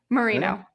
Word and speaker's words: Moreno: Is it Moreno or Moreno? Moreno. Moreno. Okay, because it wasn't spelled like Moreno.